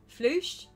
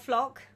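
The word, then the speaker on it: floche: gives you better coverage oh and it's pronounced flush flush floosh okay right so it's not flock it's floosh is that right floosh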